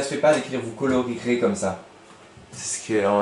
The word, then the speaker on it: colorierez: Parce que ça se fait pas d'écrire vous colorierez comme ça. C'est ce qu'on n'a jamais vu ça. Rirez. Il faut R-I-E-R-E-Z. Voilà, c'est comme ça, il faut le connaître. Tiens, E muet. Vous colorierez.